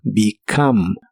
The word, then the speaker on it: become: de inglés es become la primera e se pronuncia como I la o se pronuncia como a y la última e no se pronuncia become become y lo puedes usar